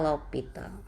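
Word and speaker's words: L'Hôpital: Dibacanya L'Hopital.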